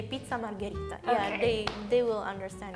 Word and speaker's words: margherita: than when i'm trying margherita margarita yeah so how do you say margarita in english margarita so it's similar you can say margherita okay i wonder if